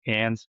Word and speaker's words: Cairns: So we got the van up in Cairns, spelled like Carnes, Okay. but it's pronounced Cairns.